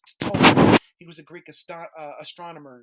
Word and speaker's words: Ptolemy: The P is not pronounced. Ptolemy.